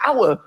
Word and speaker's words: hour: Why is the word hour spelt with an H? Why is there an H? The silent H.